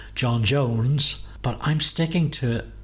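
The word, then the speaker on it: J'onn J'onzz: N's there are in John John's, which I've mispronounced because it's actually John Jones, but I'm sticking to it because that's how I like my John Johns.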